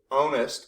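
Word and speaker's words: ow'st: And we go onest. Oest is how it's written, but it's onest, like you own something.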